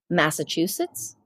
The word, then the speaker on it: Massachusetts: Okay, the word gives me a great anxiety pronouncing it. How do you say it? Massachusetts.